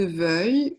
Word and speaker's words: veuille: Et enfin, le verbe vouloir, attention à la prononciation, que je veuille, que tu veuilles, qu'il veuille, que nous voulions, que vous vouliez, qu'il veuille.